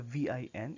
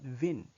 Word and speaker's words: vin: The VIN is not vin. It's vin. Un vin rouge. Rouge has a long O sound.